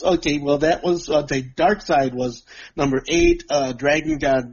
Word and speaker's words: Darkseid: mark tied up exid oh no it's dark sid dark in love that would be s IDE not a CID it's pronounced the dark side okay number seven the